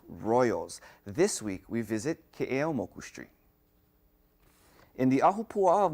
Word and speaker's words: Keʻeaumoku: Commonly mispronounced as Keʻeaumoku, this busy street goes from a residential area